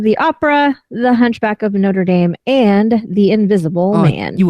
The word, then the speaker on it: Notre Dame: And it is Notre Dame. Notre Dame is somewhere in America that you guys pronounce wrong all the time anyway. It's Notre Dame. It is a foreign word. It's not Notre Dame.